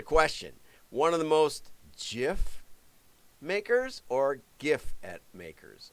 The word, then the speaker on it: GIF: for what it's worth He says GIF is pronounced with a soft G GIF I say GIF is